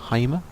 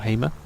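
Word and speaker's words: Heima: is sigur Ross and the film is called Heimer or Hamer h-e-i-m-a and it's really good because it's a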